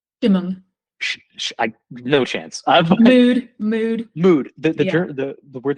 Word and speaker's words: Stimmung: I can't pronounce that word. You said schmood? Stimmung.